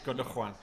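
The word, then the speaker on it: Gündoğan: It's a pronunciation. Oh, yeah. Gundogan.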